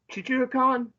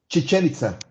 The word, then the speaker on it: Chichen Itza: Chichihuacan? Is that how you pronounce Ch- that? Chichen Itza.